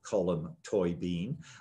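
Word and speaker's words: Colm Tóibín: this right today so from this point forward column toy bean i will say your name right and read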